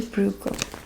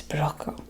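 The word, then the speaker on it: Bruegel: Um there's so many different ways to pronounce his name. Um he is a Dutch painter. So keep that in mind. I guess it's Broco. Broco. Braco but in in my accent I just say bro.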